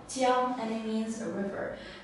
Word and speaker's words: 江: His character is pronounced as Jiang, Jiang, and it means a river.